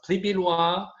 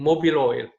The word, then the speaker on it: Pribilois: They were pronouncing instead of Pribilois, they were saying mobile oil. Interesting. Some others were saying Pribolis instead of Pribilois.